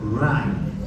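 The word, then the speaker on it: Wright: De Rye, se escribe con W, Rye, tinción de Rye, o puede ser de Giemsa, ¿no?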